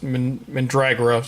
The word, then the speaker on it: Mandragora: I think it's mandragora I've never been quite sure how to pronounce this but in the show it's pronounced min drag her off so we'll go with that the final story of